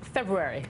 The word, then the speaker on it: February: everyone knows it the you have to make sure the R is in there but I learned a trick years ago on how to say it it is that Ruairi